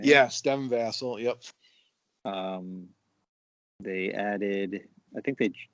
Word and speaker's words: Devin Vassell: Yes, Devin Vassell.